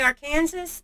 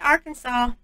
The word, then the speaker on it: Arkansas: So if you go in there and say Arkansas, I guess you're in trouble. You better say Arkansas, even though there's no W in there.